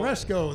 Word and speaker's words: Ceresco: How would you pronounce that is it town in Ceresco? Michigan? There you go. Ceresco, the announcer Alex said.